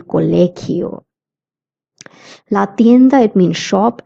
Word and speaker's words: colegio: El colegio, the sound is a K of GI. That's why we say el colegio.